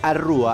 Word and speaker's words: Arrúa: Arrúa, con acento en la U, lo pueden encontrar en todas las plataformas, tiene nuevo videoclip. El recorrido de Arrúa ya lo hemos escuchado